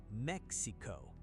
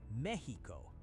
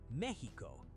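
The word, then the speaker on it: México: English speakers say Mexico. Wrong. In Spanish, the X in Mexico makes an H sound. Say Mexico. Mexico.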